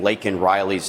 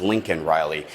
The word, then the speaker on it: Laken Riley: We had to actually shame him into even saying Laken Riley's name, which he pronounced as Lincoln Riley.